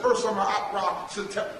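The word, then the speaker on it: Usermaatre Setepenre: The Africans know him as Ursa Ma'at Ra Setepin. Come on, let me show you how to say it. Say Ursa Ma'at Ra Setepin Ra Metsu Meriam.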